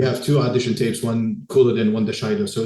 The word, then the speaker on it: Couladin: the time, it was a name that started with a C. Yeah. Right. And pronounced with a K sound. So, and from the dialogue, obviously it is Couladin.